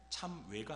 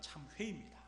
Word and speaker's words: 참회: 번째 질문은 참여한 무엇인가 발음을 잘해야 합니다 참외가 아니라 참 회입니다 참여는 제가 좋아하는 과일이